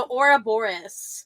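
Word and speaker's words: Ouroboros: American pronunciation of it hor Boris I I I tend to like the split the RS yes I I like rolling the RS so that's why I say it like that but you will catch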